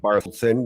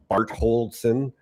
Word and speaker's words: Bartošák: Uh I everybody's saying Bartošák when it's Bartošák.